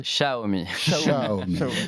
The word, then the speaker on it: Xiaomi: Xiaomi. Mais c'est toujours un peu complexe. T'imagines un chat et tu rajoutes Omi derrière.